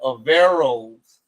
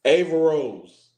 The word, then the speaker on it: Averroes: A Vera Rose. Ava Rose.